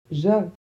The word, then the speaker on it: je: Ça se prononce je. Donc le J se prononce j. Et le E, ici, il va falloir le prononcer E. Pas est, pas et. E. Je.